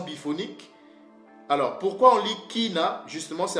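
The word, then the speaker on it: קינה: Et le Y, ça se lit comme un I. C'est pour cela que vous voyez que ici, on prononce ki. Donc, c'est kina.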